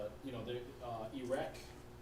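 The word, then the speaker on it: Erech: for now in English but it's spelled e r e c h in the Bible pronounced the same way so you know you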